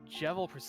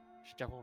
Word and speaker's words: Jevil: Currently, actually right now, the Jevil % run, Jevil rhymes with devil, not with evil, silly Natara.